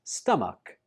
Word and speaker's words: stomach: But in this case, the CH is pronounced like ka.